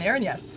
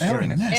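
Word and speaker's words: Erinyes: Aaron-S. Aaron, yes. Aaron, like Aaron, yes. Yeah, it's got yes bait right in.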